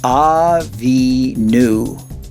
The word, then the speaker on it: Avinu: The last letter without any dots makes the v sound. It's the vav. But this letter has a dot to the left, so it gives it the oo sound. So this syllable makes the nu sound. Put together the word from right to left and you have Avinu, which is our Father.